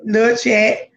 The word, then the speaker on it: La Chat: And then I just changed it to LA Chat. So it's still pronounced the same, but it's spelled different. Right. So it's still Lil Chat.